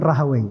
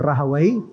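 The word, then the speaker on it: Rahawayh: tapi kalau saya sendiri saya dengarnya dari guru-guru saya ya itu IBN rahawei makanya saya baca seperti itu kalau di dobetnya ada yang membaca IBN rahawai ada yang membacanya IBN rahuya I rahu baik kata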